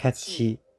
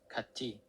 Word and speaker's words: 같이: so they are pronounced as 같이, Kachi and instead of kati, Kuji.